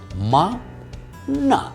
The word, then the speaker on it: maná: En hebreo se dice maná.